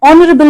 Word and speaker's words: honorable: Now see this example, an honorable man. Here the word begins with vowel sound O, honorable, not honorable. Here H is silent.